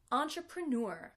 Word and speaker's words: entrepreneur: but in this word since it comes from the French we'll hear the stress a bit on the first syllable but mainly on the last syllable entrepreneur an entrepreneur is some